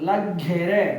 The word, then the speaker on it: ಲಗ್ಗೆರೆ: ರೆ ಲ ಗೆ ರೆಗ್ ಲಗ್ಗೆರೆ ನೋಡಿ ಒತ್ತಕ್ಷರ ಇದೆ ಆ ಪದವನ್ನ ಒತ್ತಿ ಉಚ್ಚಾರಣೆ ಮಾಡಬೇಕು ಲಗ್ಗೆರೆ ಗುಡ್ ಬ ಘ ಗ